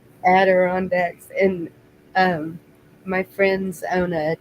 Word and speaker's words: Adirondacks: Andiracks, or however they say that. That's how I'm going to say it from now on. What's it called? How they say it? Adirondacks. Adirondacks.